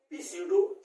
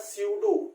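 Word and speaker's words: pseudo: सीडो, देखो यहाँ पे पीसीडो स्ट्रैटिफाइड सेलिएटेड कॉलमनर एपिथेलियम का बना होता है, ठीक है। अब पी लिखा है, लेकिन यहाँ पे पी साइलेंट होता है। इसको पढ़ा जाता है स्यूडो stratified ciliated columnar epithelium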